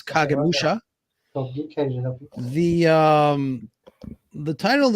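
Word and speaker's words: 影武者: Shadow Warrior and um it's in Japanese it's kagemusha the um the title of the show you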